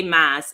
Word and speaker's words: Mas: So when you play Mas, is you're doing like the masquerade, but because of the accent, you know. Yes. Masquerade is pronounced masquerade, yeah. So it's shortened to Mas.